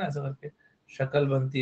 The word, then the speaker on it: coup: इस वर्ड का प्रोनाउंसिएशन ये एक्चुअली ना, ये शॉर्ट फॉर्म होता है कू डिटा, वर्ड होता है कू डिटा, फ्रेंच वर्ड है, तो इसको ना पढ़ते हैं कू, है CU कू, ऐसा पढ़ते हैं।